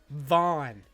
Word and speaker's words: Vaughn: Because like our boss could not pronounce the V in my name. He just couldn't. He just kept calling me. And then like our friend would be like Vaughn, and he's like.